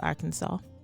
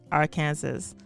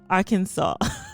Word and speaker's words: Arkansas: story once through before realizing that i was pronouncing arkansas as our kansas anyway you can let